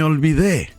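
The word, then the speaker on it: olvidé: in spanish me or sometimes spanish speakers pronounce the v as a b may be they may all be they next one i'm sorry i forgot lo siento me ol vide lo siento may albide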